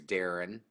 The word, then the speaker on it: Darren: is my first name my real legal name is Darren dar j is